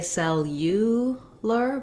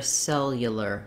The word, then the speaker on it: cellular: the uh sound here that's because we're stressing on that first syllable cell so we don't say cell you lear but rather cellular cellular this vowel gets reduced to more of an uh sound or vowel schwa and then lastly the